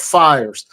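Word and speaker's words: PHIRES: in the menu called fires fires is an acronym that's spelled p i RS the pH makes the F sound is in like philosophy and the whole idea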